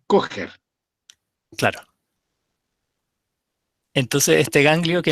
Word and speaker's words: Kocher: Igual que Kocher, no es Kocher, es Kocher.